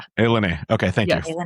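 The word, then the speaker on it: ilani: Wait, that's that's how it's pronounced. It's Alen. Yeah, Alen.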